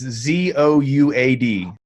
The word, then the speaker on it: Zouad: Juad. How do you say it? It's Zouad.